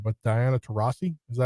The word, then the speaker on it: Diana Taurasi: Excuse me for pronouncing her name wrong, but Diana Taurasi, is that how you say it?